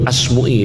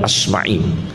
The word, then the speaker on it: Asma'i: Seperti Asmu'i itu jangan sekali-kali baca Asmu'i. Tidak benar, bacanya yang benar Asma'i. Tidak ada dalam sejarah namanya Imam Asmu'i, itu tidak ada. Asma'i. Tapi sudah terlanjur banyak yang salah. Radhiyallahu anhum. Karena banyak yang salah bacanya. Jangan dibaca Asmu'i, yang benar bacanya apa? Asma'i.